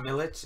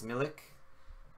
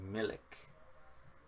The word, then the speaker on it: Milik: It's not Milic, it's Milik. Am I mispronouncing it? Milik. Arkadiusz Milik. I guess it's pronounced like it's written. I don't know why I pronounced it with a CH.